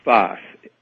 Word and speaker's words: Sfath: Whose name was Sfath. That may not help matters, but he was called Sfath. I believe it was spelled S-F-A-T-H. That's how it's kind of written and pronounced in the...